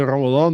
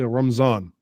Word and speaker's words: Ramadan: Like you have people from Pakistan, they don't say Ramadan, they say Ramzan. Okay, fine. You can say Ramzan if you're just talking.